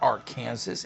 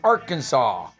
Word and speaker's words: Arkansas: natural state yep don it's not our kansas it's arkansas well it depends you